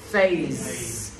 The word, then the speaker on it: phase: Thì SE được phát âm là sợi giờ. Các bạn nghe thầy đọc là phase.